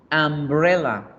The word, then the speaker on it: umbrella: Sombrilla se escribe con U y se pronuncia con A. Umbrella. Entonces su sonido inicial es una vocal A.